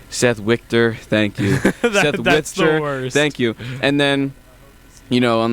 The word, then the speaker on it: Witcher: By the way, my last name is spelled Witcher. For some reason, it's like Witch with the broomstick and the poison apples and stuff.